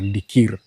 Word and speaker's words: Dikirr: as we speak, is we have the Emurua Dikir. Yeah, I know. You know, I think it was d i k i r r Dikir, but how it's pronounced is Dikir.